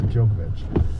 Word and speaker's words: Djokovic: Yeah, Djokovic.